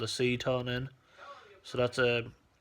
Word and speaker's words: Seton: What they done was put a thing called a ceton in. So that's spelled Seton.